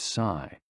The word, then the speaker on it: si: The 6 sounds are XU, pronounced like shh, with a deep sigh, which is associated with the liver. HE, pronounced like her, with a yawn, which is associated with the heart. SI, pronounced like sir, with a slow exhale, which is associated with the lungs.